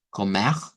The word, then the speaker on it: comer: Bien, tenemos dos pronunciaciones con R gutural, que sonaría como comer, comer, y con el sonido reemplazando la R gutural por el sonido de una H, que aquí recuerden que